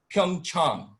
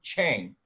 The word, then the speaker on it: Pyeongchang: nbc had the olympics they deliberately chose to mispronounce the name of a korean host city called pyeongchang because many of their broadcasters couldn't say pyeongchang rather pyeongchang they decided to say chang they felt it was easier to say and